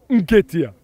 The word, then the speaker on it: Nketiah: Eddie Nketiah. All right? That's the pronunciation, right?